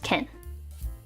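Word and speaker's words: 件: Nami or ha this is matter which is pronounced Ken I do hear that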